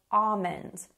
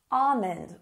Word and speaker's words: almond: I actually say the L usually, slightly, almond, but most people would say almond, almond with no L sound.